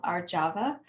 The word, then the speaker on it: Arjava: yama in the series this one is called our java and it's spelled a-r-j-a-v-a-r-java and i've been reflecting on it